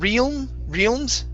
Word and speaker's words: realms: Next we have, okay, the word realms, if I can find you. Oh, right here. Realms, instead of realms, it's a short E sound.